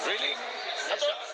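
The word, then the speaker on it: Riel: Really?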